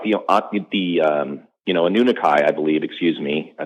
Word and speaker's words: Anunnaki: it's not like the the um you know anunaki I believe excuse me I think that's how you say it anunaki or anunaki I say an Anunnaki thank you they needed a large slave labor